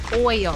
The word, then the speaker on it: Hoyo: Justin thinks he can speak Spanish better than me, but he just pronounced an H.